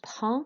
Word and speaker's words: prends: With prends, you don't pronounce the D and the S. You're not pronouncing consonants at the end. You pronounce vowel sounds in French. So je prends is I have. Okay, no D or S pronounced at all.